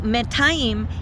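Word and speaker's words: מאתיים: So, Metayim is the way to say 200, and this is just Me'ah with a dual ending on the end. And so this is the only correct way to say 200. It is not correct to say anything like shte me'ot.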